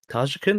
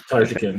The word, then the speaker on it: Tarjakin: what the status of Tajikin, is that how you pronounce it? Am I pronouncing that correctly? Yeah, it was Tarjakin. Yeah, that's perfect. Tarjakin, Good draconian accent.